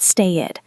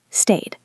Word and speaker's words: stayed: Not stay-id, stayed.